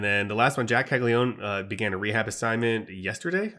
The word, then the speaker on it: Caglianone: It's much harder to say if you look at how it's spelled. I believe it's just Jac Caglianone. But if you look at how it's spelled, it's like Jac Caglianone or Caglianone.